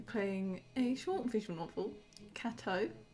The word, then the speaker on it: Cateau: a short visual novel kato i think it's pronounced like gato but it's cat yeah